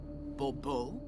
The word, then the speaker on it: Bourbeau: The emphasis falls on the last syllable. Bourbeau.